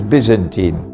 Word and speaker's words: Byzantine: Constantinople and which was called the byzantite or the holy Byzantine Empire some pronounce it as Byzantine and Allah speaks in